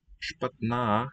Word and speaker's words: Špatná: Špatná, hear the long vowel sound at the end.